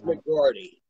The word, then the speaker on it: McGroarty: It's McGroarty.